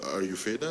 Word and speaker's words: Ayurveda: Health and pharmaceuticals, including traditional medicine, such as Ayurveda. Is that the right pronunciation? Yes, Ayurveda, yeah.